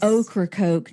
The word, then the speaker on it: Ocracoke: It is how it is spelled. That is quite the interesting place. Ocracoke, New York.